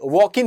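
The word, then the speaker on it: Joaquin: हमने देखा है अक्सर कि जो साउथ अमेरिका के लोग हैं जैसे वॉकिन फिनिक्स है। वॉकिन फिनिक्स कैसे है? तो जे से शुरू होता है वो वर्ड। लेकिन हम बोलते हैं वोकि फिनिक्स।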